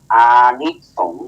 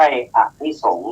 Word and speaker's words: อานิสงส์: นึง นะ โยม 2 ว่า อานิสงส์ อ่าน ว่า อานิสงส์ ให้ คุณ ยอง ไม่ ใช่ อนิสงส์ นะ ซึ่ง ผู้ ฟัง